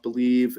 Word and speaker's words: Bleav: an odd spelling uh b-l-e-a-v but it is pronounced believe it's the believe podcast